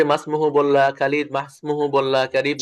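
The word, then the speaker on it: ما اسمه: হ্যাঁ, ইসমুনের যে হামজাটা আছে এই হামজাটা ওয়াসলি, এটা যখন মাঝে আসবে তখন এটা আর উচ্চারণ হবে না, তাই না?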